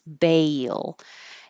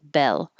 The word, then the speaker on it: bail: want a bail and bail is almost two parts ba your tongue's very high and then it slides down and up for the L so it's Bale if you don't do if you don't go high enough it'll sound like Bell instead of bail do you want a